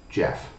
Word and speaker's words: GEF: if you see it gef pronounced Jeff is a set of